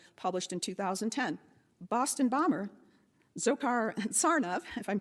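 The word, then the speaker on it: Dzhokhar: in 2010 boston bomber zokar and tsarnaev if i'm pronouncing that correctly said that reading it's pronounced joker people's history of the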